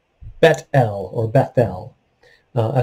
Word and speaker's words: Bethel: he called the place bethel we usually say bethel bethel would be a more accurate pronunciation but the name of the city was